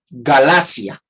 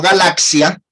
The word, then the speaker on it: Galacia: En el mundo antiguo, Galacia, no galaxia. Yo he visto algunos cuando leen el texto de 1 Corintios 16, decir, así como ordené a las iglesias de Galaxia, pronuncian mal, no es Galacia con C.